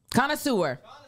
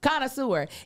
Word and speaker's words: connoisseur: Connoisseur. I was like, there's a lot of syllables. Connoisseur.